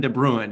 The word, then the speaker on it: de Bruyne: names for everybody but i think it's pronounced bruin de bruin if i'm i'm correct